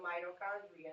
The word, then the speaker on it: mitochondria: Con is a CH. All right. Mito, con, the k is a CH, not a K.